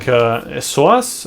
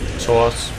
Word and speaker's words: psoas: the hips parts and the it was the psoas, right? I was saying it right. And the knees, but usually when it comes to stress-induced injuries, yeah, you're looking at wrist, elbows, shoulder, psoas.